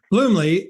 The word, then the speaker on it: Bluemle: do you say your last name again bloomley bloomley and scott havoc paddock correct gabrielle stebbins jesse